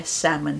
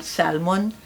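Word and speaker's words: salmon: दोनों में सेम है सैमन सैमन जो फिश है ठीक है नॉट सालमन इट्स सामन एल is silent right अच्छा ब्रिटिश कहेंगे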